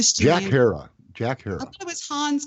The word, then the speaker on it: Herer: it's made illegal, Jack Hara, Emperor Wears No Clothes. The last name is spelled Herer. So Herer. But Jack Hara.